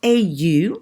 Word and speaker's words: au: Okay, so AU, which is pronounced au plus a masculine place, au café, au restaurant, au parc.